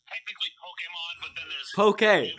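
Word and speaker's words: Pokémon: It was Pokemon.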